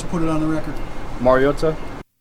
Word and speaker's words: Mariota: Not Mary, like Mario, Super Mario Brothers.